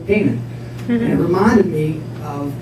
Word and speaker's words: Kanin: so I kept Kanin, but I pronounced it Kanin because I wanted to remember that when I came up with Martyr, I was researching Cain and Abel. If you say Cain and Abel, Canaan.